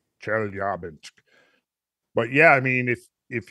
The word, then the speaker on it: Chelyabinsk: Chelyabinsk, I think, is the way I heard it pronounced. Chelyabinsk.